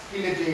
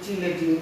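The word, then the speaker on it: chelating: দেখে ফেলেছি, এখন আমরা কিলেটিং এজেন্ট দেখব। কিলেটিং এজেন্টটা কি জিনিস? কিলেটিং, এটা দেখেন কোন কোন বইতে চিলেটিং এজেন্ট বলে, কিলেটিং বা চিলেটিং, কেউ চ উচ্চারণ করে কেউ ক উচ্চারণ করে, চিলেটিং এজেন্ট বলতে পারেন আপনারা, সবাই লিখে নেবেন।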